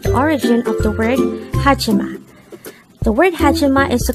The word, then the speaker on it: 하지마: word number 102 haima haima and this is pronounced as a three syllable word the first syllable is